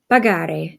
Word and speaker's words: pagare: So the same thing with the G, you need to add the H in there to retain the hard G sound that you get from a G-ARE verb.